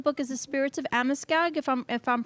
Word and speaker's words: Amoskeag: The name of the book is The Spirits of Amoskeag, if I'm pronouncing that correctly. Amoskeag, yes.